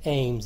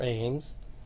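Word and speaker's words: Eames: designed by charles and i think it's pronounced ames it's e-a-m-e-s and you can leave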